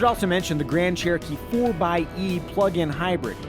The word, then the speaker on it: 4xe: mention the grand cherokee 4 by e plug-in hybrid yes that's the proper pronunciation of the 4xe spelling annoyingly jeep hasn't revealed